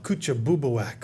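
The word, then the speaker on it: Kouchibouguac: The first one was in New Brunswick, and you can pronounce that. They call it Coochie. Yeah, that's the word. Yeah, what's it again? Oh, Kuchabubuak, okay.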